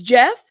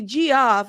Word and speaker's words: Geoff: pronouncing it is it I've heard people say g off or Jeff I've heard it interchangeably that's why I was like but thank you storm for saying it's Jeff thank you I appreciate